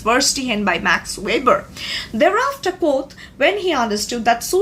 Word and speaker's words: Auguste Comte: Most of the people consider pronouncing him Comte because the word spells C-O-M-T-E, but it's not Comte. He used to be known as Auguste Koth, who actually coined the term sociology.